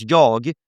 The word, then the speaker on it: jag: In Swedish, we pronounce jag like ja sometimes, right?